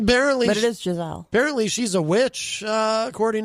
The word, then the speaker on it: Giselle: I'm not sure how to pronounce her maiden name. Apparently, but it is Giselle.